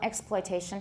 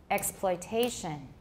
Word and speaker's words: exploitation: not reduced, like exploit, note that the difference in rhythm between explanation and exploitation is that the second syllable of explanation has a reduced vowel, but this syllable in exploitation has a full vowel.